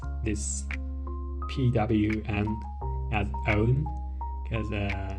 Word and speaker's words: pwn: this ownable k um by the way I pronounce this pwm as own cuz uh not pwn Cu uh it was